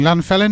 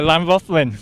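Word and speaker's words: Llanfyllin: always a showground meeting, Llanfellin, is it? Have I pronounced that right? Yeah, Llanfothlin. Yeah. I said that wrong, didn't I?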